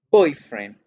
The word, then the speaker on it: boyfriend: la friends o de esto si yo digo poi frame hago el acento en voy y hago el acento en guerra